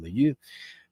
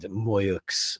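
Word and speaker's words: Moueix: bit of wine, but that's Christian Muyu and Moyuks, I should say. He pronounces the X in his name, his family.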